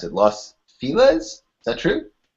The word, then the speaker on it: Los Feliz: All right, and Benjamin, you're in, I think you said, I can't pronounce it, Los Feliz? Is that true? Los Feliz, yeah. It's a Spanish mangling.